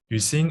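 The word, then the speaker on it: Yuxin: um okay so yeah my name is yusin as in have you seen the movie you sing that's how you pronounce my name i am a six-year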